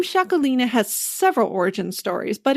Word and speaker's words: Txakolina: In this case, I have what's called a shakalina. That is spelled with a t x a k o l i n a.